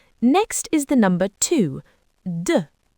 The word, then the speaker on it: deux: deux The sound is at the front of the mouth.